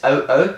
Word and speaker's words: oo: make a u sound in Tagalog you pronounce both separately so yes it's o o so o so or